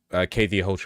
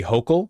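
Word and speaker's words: Hochul: close to what KY hoel is I'm probably mispronouncing that name again something that I read not here ky hokel it's hok not Hotel okay gotcha H makes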